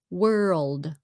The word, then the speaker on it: world: cái sound trong đó World World ok So like a half a syllable world Ok world and Word